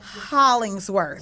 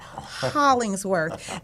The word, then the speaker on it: Hollingsworth: He said it's Hollingsworth. Wow. So I have to say it like that, Hollingsworth.